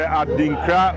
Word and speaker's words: Adinkra: Adinkra is spelled A-D-I-N-K-R-A.